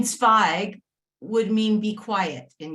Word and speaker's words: Zweig: is Tzadik, Zwei Waven, Pasach zu Yud Gimel, pronounced Zweig.